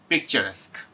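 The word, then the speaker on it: picturesque: পিকচারেস্ক শব্দটা বারবার করে খেয়াল করবেন, এই শব্দটার উচ্চারণ হচ্ছে পিকচারেস্ক।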